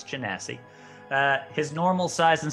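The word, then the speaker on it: genasi: cuz I didn't know how to say it's Jessie uh his normal size and stature is not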